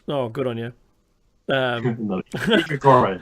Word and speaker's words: Grigori: Grigori, that's right. Grigori is enough. It's Grigori.